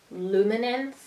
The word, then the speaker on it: Luminance: pencils are the gorgeous luminance luminance luminance the correct way to say that the Karan Dash luminance